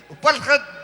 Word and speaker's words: Upallret: Upallret. John Active over here is going like this, so I must be saying it right. Thank you, John, for confirming that this is the Upallret Dance Group and Myron Nanning.